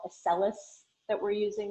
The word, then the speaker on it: Accellus: Accelis. It's spelled ACCELLUS.